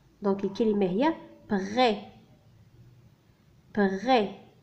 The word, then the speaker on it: prêt: donc الكلمة هي prêt. prêt. le S هنا c'est une lettre muette لا ينطق.